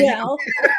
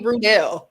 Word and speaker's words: Ruel: Yeah, it's pronounced as if it was Ruwell. Ruel. Dang, so not Rudell. Dang. No. Or you can even pronounce it Ruel, like without the W sign if you want to.